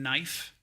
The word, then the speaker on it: knife: The silent K in knife.